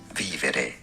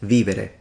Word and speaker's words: vivere: V is pronounced like a U, so U. Vivere, Latin, vivere, Italian.